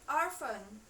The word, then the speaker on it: orphan: Number 6, cara membacanya menjadi orphan. Nah, P dan H-nya ini dibaca seperti huruf F.